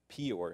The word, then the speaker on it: Peor: I don't know how to pronounce that in English. Baal of Peor.